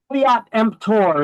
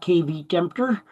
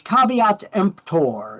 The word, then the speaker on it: caveat emptor: caveat emptor is how it's pronounced. It's not kvter. It's caveat emptor.